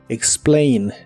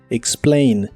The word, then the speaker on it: explain: de inglés es explain la a de esta palabra se pronuncia como e explain explain algo que te puede